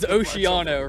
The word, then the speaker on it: Oceano: So, but for the record, it is Osheeano, right? Yeah, but Say it, Adam. How is it said I say it properly? Oceano, but I think it's kind of, honestly, it's like a Chicago thing. In Italy, they say ocean.